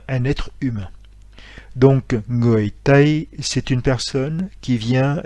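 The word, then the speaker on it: tây: l'ouest et en fait l'ouest en vietnamien se prononcent taille donc pays qui s'écrie t as accent circonflexe y est en chinois ces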